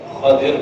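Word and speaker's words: خَضِر: کا نام خضر ہے، ہم آپ اپنی زبان میں خضر کہتے ہیں، جب نام بچے کا رکھتے ہیں تو خضر رکھتے ہیں، خضر نہیں ہے، اصل تلفظ اس کا خضر ہے، خواہ پر زبر ہے، ضاد پر کثیر ہے، کثرہ ہے، اور رات پر اس کو ساکن کرے گا تو خضر پڑے گا، خضر علیہ الصلاۃ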